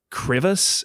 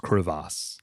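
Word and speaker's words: crevasse: This big like crevice in Japan. This big chasm is is is pronounced creass.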